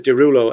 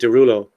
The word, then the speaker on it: Derulo: But actually, his name is Derulo, as in Desrouleaux. Okay. But in French, you pronounce it Derulo, right?